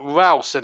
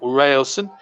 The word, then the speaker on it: Ralston: In fact, Ralston is his name. His correct pronunciation, not Railson. It's W-A-L, not W-A-I-L.